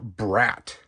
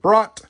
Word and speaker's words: Brat: Next one out of the case, number 3 of 5, we get the Subaru Brat. And if you're from Wisconsin, you'd probably pronounce it Brat, but it is Brat.